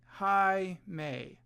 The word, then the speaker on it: Jaime: it out for me how would you pronounce it hi May Jaime right that's how you pronounce it that's not how you